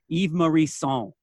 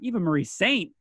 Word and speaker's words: Eva Marie Saint: by Lloyd Cole and the Commotions, and he pronounces it Eve Marie Saint. So here I am thinking it's this lofty French pronunciation. Then I'm watching the Dick Cavett interview. Eva Marie Saint.